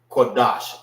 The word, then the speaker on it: Qadash: Qadash, Salaki. Qadash. So it won't be Da Sha. It's Qua Dash. Dash. Pronounce it together.